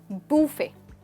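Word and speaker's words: buffet: तो जब आपके पास खाने के, फ़ोन के या किसी और वस्तु के बहुत सारे ऑप्शंस, आप उसे कह सकते हैं बूफे। That's right, with the T silent.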